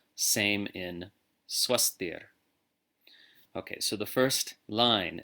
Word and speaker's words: svastir: Sarveshām svastir bhavatu. Now notice the V is pronounced like a W.